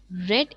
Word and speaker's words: read: being read by me red is the third form of read we write it same we write the same spelling but we pronounce it differently okay so uh was